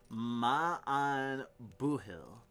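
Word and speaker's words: Maith an buachaill: The pronunciation is Ma'an Buhil.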